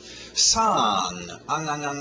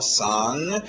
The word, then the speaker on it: song: Song. Não esquece do nariz. Um som nasal com um Gzinho no final. Song.